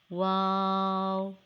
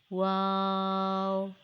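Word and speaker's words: و: It is pronounced by rounding both lips and not closing the mouth. You can read after me. Wow, wow.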